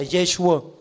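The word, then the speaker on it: Yeshua: Tiếng Do Thái tên của Chúa Giê-xu đọc là Giê-xua.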